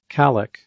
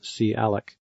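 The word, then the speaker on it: calloc: that come in handy one is calc or sometimes pronounced c alec it takes two arguments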